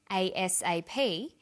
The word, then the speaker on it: ASAP: read-only memory notice that each letter in the abbreviation is pronounced separately but the last letter is pronounced more strongly because it carries the